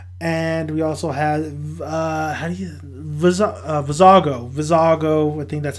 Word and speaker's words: Vizago: fat alien dude and we also have vizago vizago within that's how you say his name so